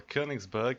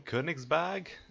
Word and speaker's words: Königsberg: Tier 5 German cruiser, the Königsberg, or Königsberg if you're English. I think that's how I pronounce it in German, Königsberg. If you are German, please correct me if I'm wrong.